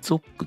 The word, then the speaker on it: ZOC: でこれですね zoc ゾクって読むみたいですねフィールドバトル